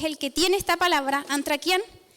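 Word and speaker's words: ἀνθρακιά: Hay una palabra en griego que se pronuncia antrakian, que significa fuego de carbón.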